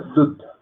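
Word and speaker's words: दूध: Esto se pronuncia dud.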